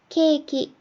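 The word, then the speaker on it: ケーキ: 이 카타카나에도 장음 길게 발음하는 게 있어요. 근데 얘는 이렇게 짝대기를 그어줄 거예요. 하나씩 읽어보면요. 치즈, 치즈죠. 케이크, 케이크예요.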